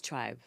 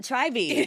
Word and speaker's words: Trybe: saying to him, okay, first of all, guys, it's Trybe. It is spelled Trybe. Because when I first spoke to Nyah, I went, oh my God, so tell me about Tribey.